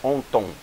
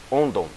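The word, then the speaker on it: ὄντων: Só que quando os dois ocorrem juntos, aqui assume um som de D. Então não é onton, é ondon, certo?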